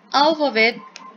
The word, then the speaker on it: alphabet: Alphabet, por ejemplo, se acentúa en la primera sílaba.